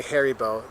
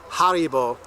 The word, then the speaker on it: Haribo: gummy bears har yeah Germans will not understand you say hary bow it's called Haribo Haro my kindful yeah